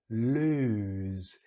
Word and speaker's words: lose: So nose, rose, lose. So this is ooze, just like we see the symbols here. So it's a very different vowel sound here.